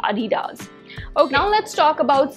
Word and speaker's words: Adidas: sports equipment i think i'm pronouncing editors incorrectly because germans pronounce it as adidas that is adidas okay now let's talk